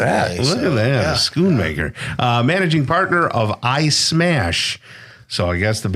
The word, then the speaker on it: Schoonmaker: Schoonmaker. Schoon. Yes, Okay, sir. Schoonmaker. It's not So the answer is no. shoe.